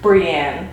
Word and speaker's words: Brianne: Brianne, frick, you even told me how to pronounce it. Brianne.